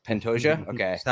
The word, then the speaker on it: Pantoja: And it's Pantoja. Okay. Is that how you say it, Jake? I think so. Yeah. Pantoja or I don't know. Pantoja.